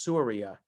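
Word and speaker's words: סוריה: In Hebrew, it's Ashur, as opposed to the country Syria today, which in Hebrew is Suria.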